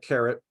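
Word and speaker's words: caret: did check the pronunciation it's pronounced like carrot Like Bugs Bunny eats and uh these are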